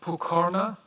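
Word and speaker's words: Pokorná: Next is the PFE's colleague Pokorna. Is that the correct pronunciation?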